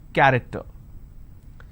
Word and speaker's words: character: each nation its present character so you see the word character i have the letter c h and it's pronounced as cur i don't say character i say it character one last passage for quick